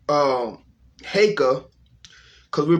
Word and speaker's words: Heka: to say that um i want to change the pronunciation of heka uh to haka because that's what it really is when we say hecka you know i'm saying hecka is a combination of two words of what is what people pronounce i heard one guy say hika you know i'm saying because he's pronouncing the e like the english letter e but when you're pronouncing